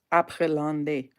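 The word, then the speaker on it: Après L'Ondée: But this Après Landais, that's how it's said.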